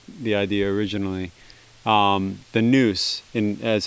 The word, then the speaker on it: NOUS: idea originally um the noose in as how it would be pronounced in ancient greek i simultaneously the way